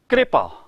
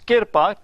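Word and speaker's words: ਕ੍ਰਿਪਾ: Don't pronounce kirpa. There is kirpa as well. That is Punjabi version of kripa, which has come from Sanskrit through Prakrit and Hindi, and it is written kripa. The difference will be when you say kirpa, sehari goes on kakka, but when you say kripa, sehari goes on rara.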